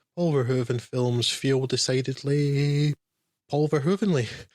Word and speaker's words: Paul Verhoeven: Paul Verhoeven, I think that's at least passable stab at the correct Dutch pronunciation, but it's so anglicised nowadays, everyone knows it's Paul Verhoeven, is not your run-of-the-mill bog-standard director.